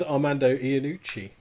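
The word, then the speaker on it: Armando Iannucci: name what you mean do you mean amando luciani yeah amanda luciani that's his name amanda amandu leshani yeah so no he is his name is armando ianucci all right do you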